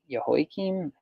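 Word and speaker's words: Jehoiakim: is your king of Babylon came up in yahoi Kim is how you say hi king became his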